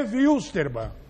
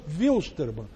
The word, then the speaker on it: Wilstermann: É porque é Wilstermann. É porque é alemão, não é inglês.